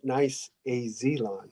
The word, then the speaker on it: niceAZlawn: Thanks for pronouncing it correct. niceAZlawn.